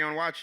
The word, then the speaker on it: Onwuachi: You said Kwame Onwuachi. You did it right.